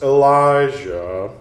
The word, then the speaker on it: Elijah: themselves one in light the other in darkness Elijah that's how you pronounce that climbs down from above and positions